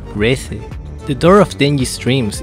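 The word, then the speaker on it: Reze: In my case I like saying Reise, but I think considering what Google Translator says, the name is Reise.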